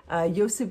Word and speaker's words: Josip: My boyfriend, Josip, Josip would be the Croatian pronunciation, drove me to the Grand Canyon and joined me on this little mini weekend vacation.